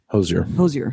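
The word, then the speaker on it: Hozier: No, but I just looked it up recently, and her performance with looks like it's spelled Hoosier. Hosier.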